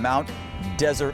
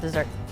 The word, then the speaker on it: Mount Desert: on Mount desert island oh I I think it's was called desert no I I've heard it was called desert no I'm pretty sure there's some history dessert even though it's well you know it's up for a debate but we'll find out